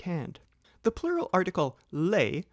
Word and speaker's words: les: hand the plural article Le spelled l s as in leash is invariable but do not pronounce the S the singular article is